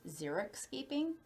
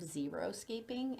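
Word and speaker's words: xeriscaping: xeric escaping and people somehow it got the name like a common name of zero scaping and i don't know if people just didn't understand how it was being pronounced or they didn't ever look up the spelling of it but xeric is probably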